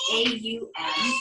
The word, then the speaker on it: Om: It is pronounced A-U-M.